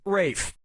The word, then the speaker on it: Ralph: 2 yeah ray Fiennes first name is spelled like Ralph but pronounced Rafe and his brother Joseph